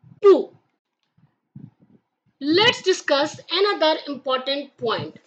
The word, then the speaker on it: 不: The tone is the fourth tone, which means your voice goes down sharply, like pu. Let's discuss another important point, which is the tone change rule for pu.